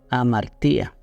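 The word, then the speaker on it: ἁμαρτία: En Santiago 4:17, esta palabra se pronuncia o viene de amartía.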